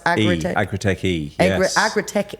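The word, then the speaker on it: Agri-TechE: with a capital E after, is that just pronounced Agri-Tech? Agri-Tech E, yes.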